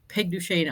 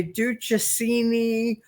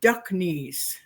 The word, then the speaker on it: Duchesne: your jacket, your uniform, this man went, Sergeant Duck Knees.